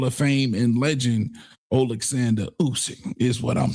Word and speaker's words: Usyk: Usyk, Alexander Usyk.